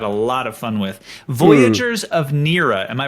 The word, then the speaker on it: Voyagers of Nera: Voyagers of Nera. Am I pronouncing that correctly? That is. Voyagers of Nera.